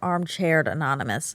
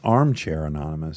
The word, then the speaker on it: Armchair Anonymous: We're still on the fence of whether it's Armchair Anonymous or Armchaired Anonymous. Oh. We definitely spell it armchair. I think it's Armchair Anonymous. It is. It is. It sounds like you're saying Armchaired But that's just a mistake.